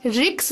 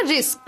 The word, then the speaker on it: রিস্ক: দাদা, প্রথম কথা রিক্স নয়, উচ্চারণটা রিস্ক।